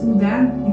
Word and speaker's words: Houdin: And to show respect, he took his name, because Houdin, it's Houdin in French pronunciation.